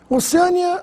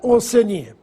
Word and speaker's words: Oceania: nóbel como Alguns falam oceânia Oceania já ouvi gente falar oceânia deve ser por causa da palavra oceano mas não confunda pois o nome do continente é Oceania na aula de hoje